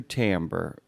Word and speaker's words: timbre: Also, I just want to acknowledge that you pronounced timbre correctly, and that is a real audiobook word.